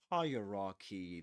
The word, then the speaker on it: hierarchy: So higher ra you know the god this Egyptian god and a key. Okay. So we get hierarchy but and this is the technical pronunciation hierarchy. Hierarchy the we call this the phmic transcription but never mind. The point is that we say hierarchy and the accented syllable is the first one.